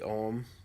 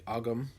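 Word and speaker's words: Ogham: She gives stuff on the Om or the Agam, depending on your pronunciation.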